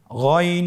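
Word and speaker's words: غين: ছাড়া বলুন আবার বলুন গন হরফটি মোটা অক্ষর উচ্চারণ করার সময় অবশ্যই মোটা করে বলতে হবে আইন এবং গন হরফটি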